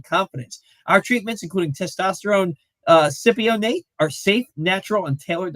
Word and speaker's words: cypionate: I got corrected last week that cypionate, but it's phonetically spelled out for me in the read as cypionate.